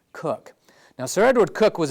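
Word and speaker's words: Coke: in your book it's spelled coch but it's pronounced cook now sir Edward cook was abusing the rights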